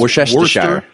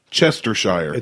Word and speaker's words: Worcestershire: It's Worcestershire. Chestershire. Nope. Minfield. It's Worcestershire. Lean parents. Lun parents. Y'all ain't crazy. I can't pronounce shit.